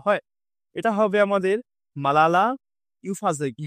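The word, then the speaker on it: Yousafzai: এটা হবে আমাদের মালালা ইউফাজে বা আমি এটাকে উচ্চারণ করি ইউসুফ আরজি এভাবে তোমরা মনে রাখতে পারো যে মালালা ইউসুফ আরজি ঠিক আছে এনার সম্পর্কে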